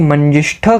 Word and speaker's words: मंजिष्ठा: Indian मैदर tree okay Marathi में इसको मंजिष्ठा कहते हैं जैसे हमने इसको प्रोनाउंस किया और हिंदी में मन मंज मंजी मंजी ऐसे इसको कहते हैं सो तीन एस्पेक्ट